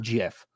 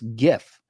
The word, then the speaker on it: GIF: It's not GIF. It's graphics interlaced format or whatever. Graphics, G, hard G. It's GIF.